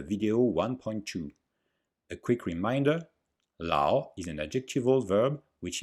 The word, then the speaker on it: lǎo: the pronunciation of law if you listen carefully lao you can hear long ah and a short o lao the o is very short and some people only hear the ah la but there is